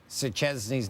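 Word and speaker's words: Szczęsny: I butchered Juventus keeper Wojciech Szczesny's name. Szczesny. And you blew it.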